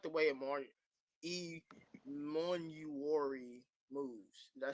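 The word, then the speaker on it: Emmanwori: I like the way E Monuori moves. Did I say it right? Iman Wari.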